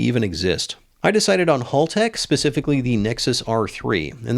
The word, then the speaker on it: Haltech: that it's not pronounced Haltech, it's Haltech. Apparently, it was started by a guy named Hal. So, me repeatedly saying it wrong would be like them calling my channel super fast Hal.